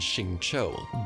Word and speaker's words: Xingqiu: X in them, and they're pronounced with more of an SH sound like Xiao, Jianling, and Xingqiu.